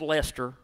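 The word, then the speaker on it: Leicester: our next performer is from lester north carolina and it is pronounced lester she is eight years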